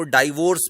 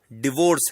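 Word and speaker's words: divorce: कुछ लोग इसको डाइवोर्स भी बोलते हैं, वो गलत है। सही उच्चारण डिवोर्स है।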